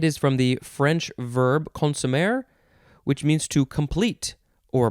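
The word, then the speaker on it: consommé: It is the word consomme.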